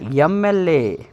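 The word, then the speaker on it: MLA: sound ಮೊದಲು ಬರುತ್ತೆ ಎಂ ಎಂ ಅನ್ನುವಂತ ಒಂದು ಈ ಸೌಂಡ್ ಅಲ್ಲಿ ಎ ಅನ್ನುವುದು ಮೊದಲು ಬರೋದ್ರಿಂದ ಅದು ಓವೆಲ್ ಸೌಂಡ್ ಆಗಿರುತ್ತೆ ಅದೇ ರೀತಿ ಆನ್ ಎಂ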